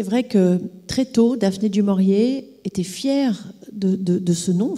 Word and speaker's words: du Maurier: appris très tôt à prononcer son nom correctement ne pas dire d'où mort et les dires du maurier et elle parlait le